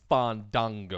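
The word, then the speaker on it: Fandango: a huge fan tango mark sorry excuse me fun dango thank you pronounce it right um just seeing him murder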